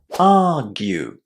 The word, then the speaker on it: argue: first syllable and then the ending is pronounced as you in exactly the same way as you would say the ending in continue for example argue argue and you're going to keep the same pronunciation of argue in any words that come from it.